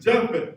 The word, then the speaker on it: Japheth: and Japheth. And Japheth. Now, we're going to focus primarily today on Japheth, or as it would be pronounced back in those days as Japhet.